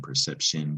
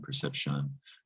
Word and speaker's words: perception: just a quick reminder it's a latin root we see it in english a lot but it's not pronounced the way it looks shun or shin perception perception perception three syllables last word